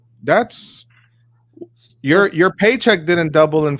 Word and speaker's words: Chapek: No, you said it right. I said paycheck.